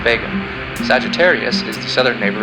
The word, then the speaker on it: Vega: pronounced rizle hog and liver's brightest star is pronounced Vega Sagittarius is the southern neighbor of aquala the